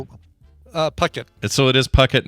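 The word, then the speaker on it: Phuket: k t because that looks like oh uh Pucket so it is Pucket not I'm sorry puet puket sorry it's puket it's not effit okay that's that's good for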